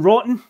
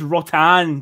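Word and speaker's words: Jérôme Rothen: Jerome Rotten? I believe it's pronounced Rotan, but he was called Rotten. Rotten until he joined them and we started calling him Rotten.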